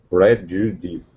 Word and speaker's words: prejudice: Prejudice.